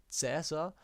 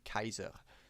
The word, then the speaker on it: Caesar: caesar short excursion sorry the white pronunciation would actually be kaiser so pretty similar to the german title kaiser that's because in latin we give the letter c a q sound a and e in combinations out like i and the letters s a and r we pronounce as sar going back in a